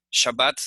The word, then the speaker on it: Shabbat: Shabbat se escribe así en hebreo, tiene dagesh en la segunda letra.